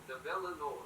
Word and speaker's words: Nabela Noor: Nabela Noor. Nabela Noor. So I was saying it correctly then, Nabela? Nabela Noor.